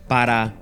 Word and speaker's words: para: The word para, meaning for becomes Pa.